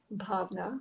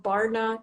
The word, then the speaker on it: Bhavna: And when I actually heard how it's supposed to sound, bhavna, very soft, I figured, because also the other thing was a lot of people couldn't pronounce my name right. And that was my biggest pet peeve. I was being called Bhavna. I was being called Barna.